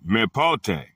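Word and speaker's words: μήποτε: The Greek word is mepote, pronounced me pot e, from Greek number 3361 and Greek number 4218.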